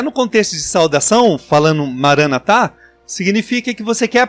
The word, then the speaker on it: Maranatá: Maranatá. É essa a pronúncia, será? Isso, Maranatá.